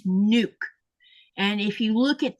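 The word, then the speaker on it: Nuuk: It's nuke. And if you look at the way it's spelled, it's spelled like this. N UK. Those two U's mean you draw out a long sound u in Greenland.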